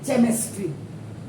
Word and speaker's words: chemistry: जब ये कै जबकि CHE चे होना चाहिए, केमिस्ट्री। ये आप डिसाइड करो।